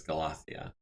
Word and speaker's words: Galathea: Yeah, I think it's Galathea, is the pronunciation guide that I googled said.